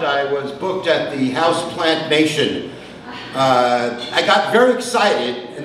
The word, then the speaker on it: Houseplant Nation: PR in terms of Houseplant Nation. If not pronounced right, it sounds like House Plantation.